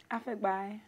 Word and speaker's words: Afegbai: How do you pronounce his own name? Afegbai.